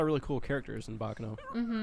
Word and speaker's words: Baccano: to say it right no you gotta say as back in the rock you know because of the exclamation point is it it's in a it's Italian for the word ruckus I guess but yeah